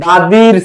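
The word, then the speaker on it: the: তো এই যে দাদি যে সিভিটা রেডি করছে, দাদির সিভি, দা সমান সমান সি আর দি সমান সমান ভি।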